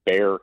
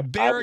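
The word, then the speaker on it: Bexar: this sheriff in in Bear County uh Texas yeah Bear County Texas it's Bear County which is it's interesting because it's spelled b-e-x-a-r and it's pronounced bear but Texas is not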